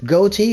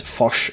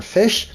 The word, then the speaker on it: Ghoti: first interaction with them goatee or the proper pronunciation is fosh or fish plays in a similar